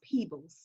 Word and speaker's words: Peebles: to just correct you my last name is pronounced peebles people i'm sorry so um